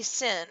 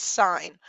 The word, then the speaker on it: sin: and this does not say sin so I know you're going to think that and you're going to say math is the devil and all that good stuff but it is not you still pronounce this sign all right so the